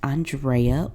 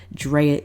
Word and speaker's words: Andrea: I am your host Andrea or Drea if you continue to butcher the a-n of my name or we got some